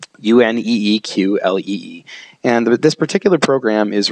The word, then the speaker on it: Uneeqlee: Now, it's spelled a little weird. In fact, it's spelled uniquely on its very own, Uneeqlee.